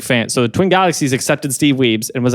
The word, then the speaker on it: Steve Wiebe: Steve Wiebe did have an audience. It was Steve Wiebe had an audience. That's how it's pronounced.